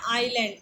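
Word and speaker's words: island: है ऐसा उसने सोचा यहां एक वर्ड है आयरलैंड आयरलैंड यह देखिए लिखा है हमेशा साइलेंट होता है इसको आयरलैंड हम पढ़ते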